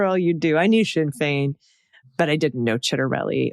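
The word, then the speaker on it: Sinn Féin: Pronunciation. The Irish political parties you mentioned are Shinfane and Fina Gale. Also the Republican candidate for New Jersey governor, Jack Chitterelli.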